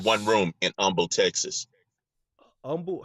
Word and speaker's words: Humble: Humble, how you spell that? Like humble, Humble, but they call it Oh, Humble down here.